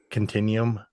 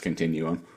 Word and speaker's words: continuum: Are you sure it's not pronounced like vacuum continuum? I I'm I'm 100 I'm 100% sure it's pronounced continuum. I agree. I'm just pointing out how dumb English is.